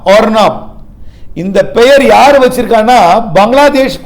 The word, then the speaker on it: Arnab: காற்றெடுத்த தாடுமண்டலம் அருணா பாகை அதாவது ஏஆர் என்ஏபி ஏஆர் என்ஏபி இது வந்து புயலோட பெயரு ஆனால் உச்சரிப்பு ஓஆர் என்ஏபி ஆர்னாப் ஆர்னாப் இந்த பெயர் யார் வச்சிருக்காங்கன்னா